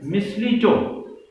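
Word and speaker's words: mistletoe: and except this miss miss Vito the exact pronunciation is Miss Leto yes it is a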